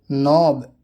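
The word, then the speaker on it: knob: के, जब एन से पहले के आता है तो वो के साइलेंट होता है, अक्सर शुरुआत में होता है। नो जानना, नी घुटना, नॉक खटखटाना, नॉब कुंडी, निट बुनना।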